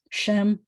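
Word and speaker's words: שם: And this is Shem. I used to say, it rhymes with sounds like, but until I heard that modern Israeli pronunciation, they won't say a there, they'll say Shem.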